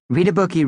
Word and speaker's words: Readabookie: Hey, read a bookie reunion weekend is coming up, Katie said, trying to think of something that would cheer us all up. Camp Readabookie, pronounced Read a Bookie by the way, was the schoollike summer